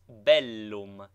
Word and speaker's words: bellum: PS BT like PT doubled consonants should both be sounded contrary to the custom of English thus Bellum is pronounced distinctly Bellum not Bellum nine exercise pronounce the